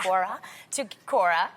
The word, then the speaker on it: Quora: And one young girl recently took to Quora, is that how you say it? Yeah. Quora, to get some advice on her first bra,